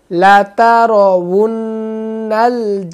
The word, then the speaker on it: لَتَرَوُنَّ: لَتَرَوُنَّ الْجَحِيمَ جَحِيمَ, لَتَرَوُنَّ এখানে ওয়াও পেশ উ বলবেন, ওয়াও পেশ উ, ওয়াও জের উই, তো ওয়াও জবর ওয়া, তো এমন উচ্চারণ হবে, লাতারাউন্নাল জাহিম লাতারাউন্নাল জাহিম, সুম্মা